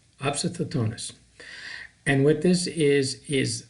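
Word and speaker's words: opisthotonos: ever mentioned this has this same painting it's pronounced obsid thetonus obsidotonis and what this is is like an arch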